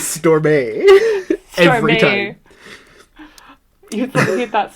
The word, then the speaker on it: Stormé: It's spelled like Storm, but with an E on the end. I know that the author meant this as Storm. In my head, though, I could not stop pronouncing it like Beyonce. Yeah. In my head, it was Stormé.